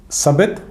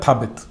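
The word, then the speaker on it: ثابت: तो पहले जिसे भेजा मोहम्मद बिन अब्दुल्ला ने, उसका नाम था सबित या थाबित, अलग अलग तरह से प्रोनाउंस किया जाता है।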